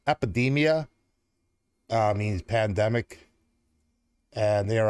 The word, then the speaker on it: Эпидемия: And they're called and pronounced Epidemia, means pandemic, and they are active from 1998.